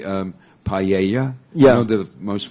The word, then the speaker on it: paella: way to say um paella yeah you know the most famous Spanish dish yeah it's p-a-e-l-l-a yeah okay so you say that there's like a y so I always thought